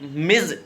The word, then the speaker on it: Ms: मिज इसका प्रोनाउंसिएशन होता है मिज, MIZ, ये प्रोनाउंसिएशन है मिज।